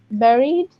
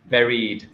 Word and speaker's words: buried: we say very but it is pronounced as berry oh yeah but very very very very so it's and now now that you know the exact pronation how would you pronounce this word buried buried very well okay